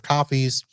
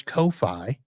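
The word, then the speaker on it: Ko-fi: select the number of coffees and select that and I would appreciate that and then of course Kofi or coffee depending how you say it and you have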